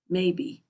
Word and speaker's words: Mabie: After a generation or two, the spelling of the name was made to conform to the usual pronunciation, Mabie.